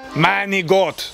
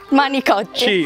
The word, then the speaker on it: manicotti: Manigot. Con la C. Manicotti. C, manicotti. Esatto. Manicotti. Manigot? No, manicotti. Manicotti. Manicotti. Manigot. Non la C, manicotti. Manigot, I milk a goat.